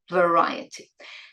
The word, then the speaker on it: variety: So the sound at the beginning is now a schwa, not a v, it's v, variety.